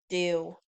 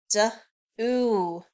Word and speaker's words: do: Do. D. Ooh. Ooh, that does not sound like an O.